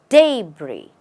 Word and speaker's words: debris: de you say de the first part is stressed day and the last part is not stressed Bri day Bri let's look at a